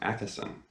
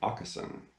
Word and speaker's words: Åkesson: For a long time, I always pronounced his last name Åkesson, Fredrik Åkesson, but I believe the correct Swedish pronunciation is actually Åkesson, Fredrik Åkesson.